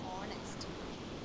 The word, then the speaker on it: honest: In words like our, honor and honest, the letter H is silent.